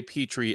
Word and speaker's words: Petri: His name is now Petri, as in the dish full of germs and bacteria.